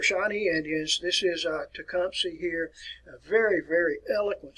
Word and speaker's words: Tecumseh: tecumseh and that's the way you want to pronounce his name tecumseh i sometimes referred to as a shooting star